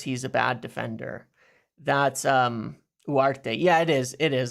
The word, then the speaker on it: Ugarte: That's Uarte. Yeah, it is. It is. I know you don't pronounce the G, I guess, technically.